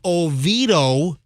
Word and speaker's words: Oviedo: from universal forming company universal forming incorporated from oviedo that's how you pronounce it right yeah that sounds right yeah